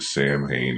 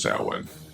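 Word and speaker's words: Samhain: And I know that Sam Hayne is actually pronounced sin, but Sam Hayne is how it was pronounced in the series, so that's how I pronounce it here.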